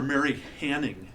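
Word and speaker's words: Mary Anning: would have called her Mary Hanning even though there wasn't an H on the front the pronunciation had been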